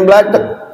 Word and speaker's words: black: sama bacaannya Kan beda kalau bahasa Inggris Black tulisannya blek iya iya dasih tie